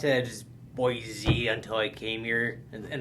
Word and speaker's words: Boise: always pronounced it as boy z until i came here and then i switched to saying boy c and though i heard that linguistically it should be boy z but it's but that's